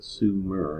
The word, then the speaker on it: Sumer: who are from Sumer and that's how it's pronounced Sumer and on summer cuneiform which was written on